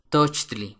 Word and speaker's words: tochtli: venado papalot mariposa sopilote tochtli conejo se puede pronunciar como la palabra tocar en inglés Touch toch at agua ejcat viento